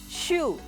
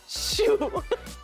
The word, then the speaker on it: choux: But it is pronounced ‘shoe’.